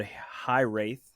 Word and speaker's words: Hiraeth: But this album, I believe it's called High Wraith. Well, Hiraeth is how you spell it. But I think that's right. Yeah, phenomenal album, and we'll talk about it more in a little while.